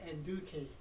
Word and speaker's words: Nduka: have an African name my African name is pronounced and Duke it's spelled n-d-u-k-a and then my last